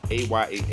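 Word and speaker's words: Ayah: be pronouncing it wrong it's a y a h but it's Aya or a Alum called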